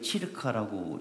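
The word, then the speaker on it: circa: 있어요 그리고 108 치르카 100 ca는 치르카라고 읽는데 대략이란 뜻이거든요 대략 사람이 어떻게 완벽하게 108로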